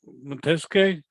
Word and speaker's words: Matiske: No, Matiske? Did I pronounce it correct?